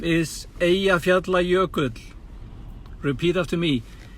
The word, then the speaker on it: Eyjafjallajökull: The name is Eyjafjallajökull. Repeat after me. Eyjafjallajökull.